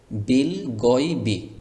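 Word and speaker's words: بالغيب: তারপরে এই শব্দটি খেয়াল করুন, বিল গয়বি, কোথাও কোনো টান হবে না। যদি আপনি এভাবে বলেন বিল গয়বি তাহলে কিন্তু আবার ভুল হয়ে গেল। এরকম যেন টান না হয়ে যায় এই দিকে খেয়াল রাখতে হবে।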